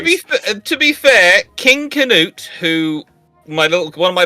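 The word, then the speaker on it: Cnut: spelled Secret it's K it's specifically a hard K it comes from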